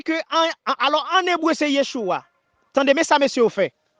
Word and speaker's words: Yeshua: Devant Shin yo mette Shououk qui se Vav avec un petit dagesh en dedans qui prononce comme ou Shououk. Et puis Ayin qui sont lettres silencieux, yo mette Kamas en bas li prononce Yeshua.